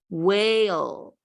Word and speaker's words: whale: Next one, whale, whale, whale. These two consonants, W and H, make the W sound, W sound.